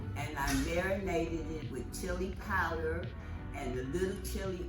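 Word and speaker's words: ghee: They call it chi. What chi is is spelled g h e e e e e e e e e e e e e e e e e e e e e. It's clarified butter.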